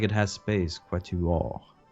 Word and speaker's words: quatuor: Quatuor. Quatuor. Okay. Quatuor. Mesmo O, like in Portuguese.